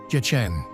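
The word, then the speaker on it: Děčín: The wonderful town is actually spelled Decin and pronounced more or less Decin. If you speak Czech, you might disapprove, but that's really the closest we can get to the authentic pronunciation.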